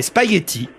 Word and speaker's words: spaghetti: Est-ce qu'on prononce le g ?